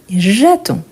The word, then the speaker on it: j'attends: Et on dit j'attends, j'attends. Donc ici, qu'est-ce qu'on a? On a le DS. Par contre, on ne les prononce pas. Ni D, ni S.